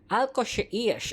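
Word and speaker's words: Al Qusais: Al Cosa Eas. Okay. So pag pronounce siya ng metro sa parang Alkosish. Ayan ko na alam basta sa ganon. Alkos. O 'yun na lang para maintindihan natin.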